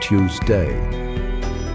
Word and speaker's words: Tuesday: like Tuesday for instance American English tends to stress the first syllable which can make the word sound more assertive and direct while British English often emphasizes the second resulting in a pronunciation that sounds more like Tuesday this can give the